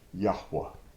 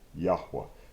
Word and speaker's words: Yahweh: And his scholarship had the pronunciation Yahweh. Yod, He, Vav, He. Yahweh. Spending some time on this name because this is very, very, very important.